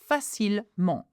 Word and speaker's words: facilement: Quand elle est stressée et elle se fâche, okay, well, you can pronounce the A like this, facilement. Again, ENT is an en sound.